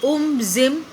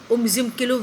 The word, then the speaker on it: Umzimkulu: They used to organise a Hunt in उमजिमकुलू valley, where you have to pronounce this nicely, Umzimkulu Valley. Which valley? Umzimkulu Valley.